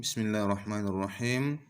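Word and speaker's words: بِسْمِ اللَّهِ الرَّحْمَٰنِ الرَّحِيمِ: Contoh dalam basmalah. Bismillahirrahmanirrahim. Itu adalah contoh yang keliru. Karena cara membaca mad 2 kita cukup mengayunkan suara kita. Bismillahirrahmanirrahim. Jadi tidak perlu menahan suara sehingga mad 2 panjangnya bisa berlebih.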